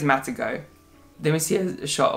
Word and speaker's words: Matagot: It's spelled Matagot, but I'm assuming because it's French, it's going to be Matagot, but I don't know. French viewers are going to have to correct me if that's, or confirm if that's correct pronunciation or not, but I think it's Matagot.